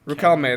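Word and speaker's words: Riquelme: I think how you pronounce it is Ruhelme. No. How do you say his name? Rick Ruhelme. There we go.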